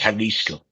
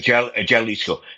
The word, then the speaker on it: Jalisco: Um I think I think because of because of how they pronounce their J's in Mexico, I think it's Halisco. Jalapino. Yeah, you keep saying Jaliscoco.